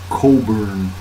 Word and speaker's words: Cockburn: Scare by Andrew Coburn it's spelled COC kb you are an but i think it's pronounced Coburn by andrew cobran there's been much alarm